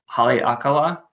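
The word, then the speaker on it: Haleakalā: It has the largest dormant volcano crater in the world, which I will try to pronounce, Haleakala, which I think I got right.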